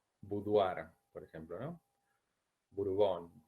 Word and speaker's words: boudoir: Y en francés no se pronuncia boudoir, bien, se pronuncia como una u. Boudoir, por ejemplo, ¿no?